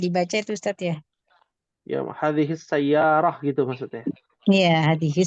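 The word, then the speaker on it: هذه: Ada yang bacanya hadza sayyaras khata ya, Hadhihi.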